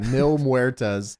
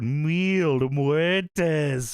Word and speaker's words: Mil Muertes: Uh Mil Muerz, you got you say it how Melissa Santos says it. wheel muertes from beyond the grave.